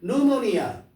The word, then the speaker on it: pneumonia: 그 다음에 pneumonia 철자를 말해보세요. 그럼 N으로 시작해? 아니 P로 시작한다고. P-N-E-U pneumonia 이게 뭐야?